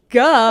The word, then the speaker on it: Ge: week uh duh Auggie g g fun fact that's how you pronounce the last name g e g like duh so sorry Auggie that we were putting you in the category of ghee butter last week we